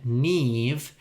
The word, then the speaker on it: Niamh: When you read the spelling, you might think it is said one way, but it actually sounds very different. For example, the name Niamh is spelt Niamh.